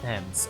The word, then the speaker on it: Thames: I pronounce it like the Ames and Flames, but it's Thames.